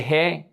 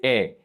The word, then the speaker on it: he: Remember that the H is silent. So we don't say he, we say e.